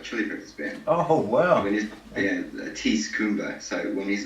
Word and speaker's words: Ties: Tease Kumba. So it's quite an interesting spelling. It's pronounced Tease, but it's spelled like ties, plural, T-I-E-S.